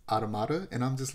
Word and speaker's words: Automata: pronounce near automata like automata and I'm just like I get it it's a weird word it's a weird word but think about the word that it's related to it's related to automaton and you don't say